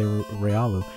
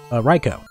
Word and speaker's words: Raikou: I'm about to say Ryolu. No, Raikou. There we go. For some reason, I always say Ryoku.